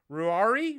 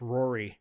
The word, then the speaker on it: Ruairi: But yeah, anyways, uh Ruairi Robinson? I love you, man. You're You're the Irish me. You're my brother. You're my twin. Knowing it that it's Irish, maybe it's pronounced Rory.